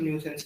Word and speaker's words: nuisance: न्यूसेंस की spelling क्या होती है? आई साइलेंट होता है, ठीक है?